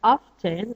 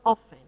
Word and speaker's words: often: And by the way, the word often can be pronounced as often or often. One is American English and one is British English. Both are correct.